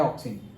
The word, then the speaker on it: auxin: ऑक्सिन, पहला कौन सा है, ऑक्सिन, ओके ए है बट प्रोनाउंस होता है ऑक्सिन।